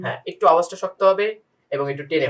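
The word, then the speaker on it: حاء: সবচেয়ে বেশি যত জনের উচ্চারণ আমরা যদি শুনি, বেশিরভাগ লোকদের সমস্যাটা হয় হচ্ছে হা এবং আইন, যেটা হলকের মাঝখান থেকে আসে। এই হলকের মাঝখান থেকে উচ্চারণ করতে গেলে অবশ্যই একটু গলাটাকে চাপ দিতে হয়।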